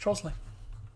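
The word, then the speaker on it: Trottiscliffe: has um it's a very old word it's pronounced trosley hello neil by the way i did watch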